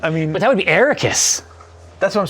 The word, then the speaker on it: Arrakis: book are pronounced um ericus i think is the canonical one right i thought it was a rakis but that's me that's the way it's pronounced in the movie yeah at least the first movie iraq suck it i